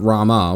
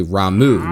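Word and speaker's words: Ramuh: to be corrected because it's not Rama which it it that's how it's spelled and it and it looks exactly that his name is actually ramu with a beard and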